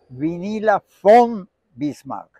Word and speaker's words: Vinila von Bismark: bismar con tu acento alemán se dice se pronuncia vinila F bismar yo conocí a la gunil v bismark que